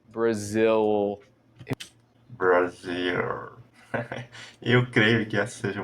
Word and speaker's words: Brazil: na garganta tudo World o nome do seu belo país a gente vai dizer nós nativos dizemos como brzil Brazil eu creio que essa